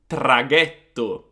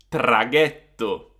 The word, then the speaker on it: traghetto: So CH and GH is a K and G sound. For example, chi or che, amiche, amiche, laghi, laghi, traghetto, traghetto. So, whenever you see a CH or a GH, pronounce it as a hard sound. So, K and G.